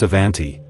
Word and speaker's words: Avanti: The Avanti, pronounced Avanti, Italian for forward, was unlike anything the company had ever built.